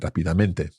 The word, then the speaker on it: rápidamente: I think until this moment in my entire Spanish-speaking life, I've mispronounced that word and said it rápidamente.